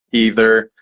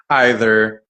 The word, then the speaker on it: either: English also has a lot of words with multiple accepted pronunciations, like either, either, Yeah, it's true. apricots, apricots, Uh-huh.